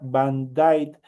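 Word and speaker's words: Band-Aid: Eh, la curita que nosotros conemos, el espaladrapo que se eh pronuncia Vanight, fue inventado por Harold Dixon.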